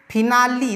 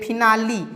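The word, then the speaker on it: finale: यहाँ पे फिनाली, देखिए यहाँ एल के बाद ई है लास्ट में, फिर भी हम लोग एल का नहीं, ई का उच्चारण छोटी ई की मात्रा में किए हैं। देखिए फिनाली, यहाँ पे एल में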